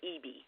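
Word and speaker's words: Ebey: tell some spelling but they pronounce it EB okay okay because I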